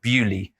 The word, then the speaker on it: Bewdley: if anyone's been here you might think it's pronounced earlier it is not it is pronounced bewdley and so what does